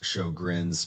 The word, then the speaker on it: Sjögren's: This one's name is a little tricky. It's pronounced Sjögren's, but what it does to your body is very straightforward.